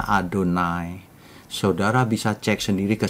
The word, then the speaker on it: Adonai: Kalau orang memakai Yahwe ya silakan. itu sebutan populer tapi bukan kebenaran yang dari Alkitab. Kalau kebenaran dari Alkitab bacanya Adonai, Saudara bisa cek sendiri